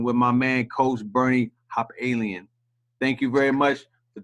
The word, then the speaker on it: Hopalian: I'll spell it for you. It's Bernie_HOPALIAN. Hopalien. Got you. Facebook the same? Facebook Bernie Hopalien.